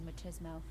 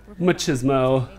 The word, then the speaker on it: machismo: I'm enjoying your charming matismo and oh I've never heard that pronounced that way machismo matches mo hi my